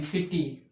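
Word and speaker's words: city: सिटी लिखा हुआ है अब इसको जो है सा से पढ़ रहे हैं सिटी सा पढ़ रहे हैं ठीक है सा क्यों पढ़ रहे हैं क्योंकि सी के बाद आई आया है ठीक है और हमें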